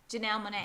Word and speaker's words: Janelle Monáe: You know, but you're putting, how you pronounce her name? Janelle Monáe.